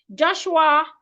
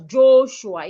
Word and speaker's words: Joshua: Joshua, I hope you do not pronounce your name as Joshua. It's Joshua. The letter O in your name sounds as in orange. Joshua.